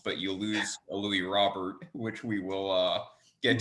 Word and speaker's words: Robert: you lose a louis robert which we will uh get to by the way i'll say this henry matt vasquez and mlb the show says robert he does not say roberto i am not expecting